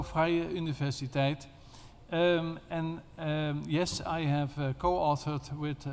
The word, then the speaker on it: Vrije Universiteit: And about that book, I'm teaching at the Vrije Universiteit, that is Dutch pronunciation, We are not allowed longer to say free university because people think that there will be no payment, no tuition. So Vrije Universiteit.